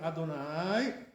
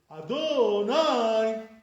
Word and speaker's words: Adonai: But the way some people do Adonai, this is not correct. Like this to say Adonai. Like, some Ashkenazim say like this, You're stressing the wrong syllables.